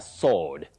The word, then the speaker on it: sword: When you say sword, you are like pronouncing the word answer as an because the w is silent in answer and it's also silent in a sword.